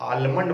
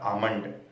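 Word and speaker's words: almond: तो बादाम को लोग आलमंड बोलते हैं, जो कि गलत उच्चारण है, सही उच्चारण उसका होता है आमंड।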